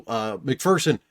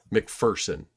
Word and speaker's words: McPherson: So McPherson has played very well this season.